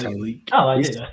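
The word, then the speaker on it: Tyleik: I butchered his name. Tyreek. Yeah, it's Tyreek.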